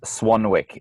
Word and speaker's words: Swanwick: to Swanwick sleep calm my last name is pronounced Swanwick well sorry it's spelled Swanwick SWA n WI ck so if you go